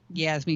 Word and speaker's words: Yasme: a repeater to arecibo in puerto rico that yasmee foundation donated right that was you guys that